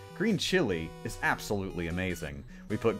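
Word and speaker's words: chile: cut my time down it's pronounced the same as chili but it's spelled like the country green chili is absolutely amazing we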